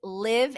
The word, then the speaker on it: LIIV: So, a new addition is Live Atlanta, and that's spelled LIIV Atlanta.